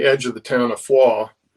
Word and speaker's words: Foy: uh on the edge of the town of foie not foy but foie ah yeah that's the actual pronunciation of it all americans call it foy